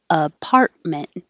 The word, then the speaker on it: apartment: Apartment. The T is going up and just hold it.